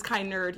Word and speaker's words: Kennard: always i always called maddie kennard yeah but it's kind nerd you think she she reads books she's a nerd kind nerd oh there you go